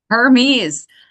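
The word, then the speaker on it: Hermès: One Hermes.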